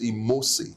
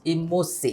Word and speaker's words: Imose: So it's Imose. Imose. Yes, the E is almost spelled like an A.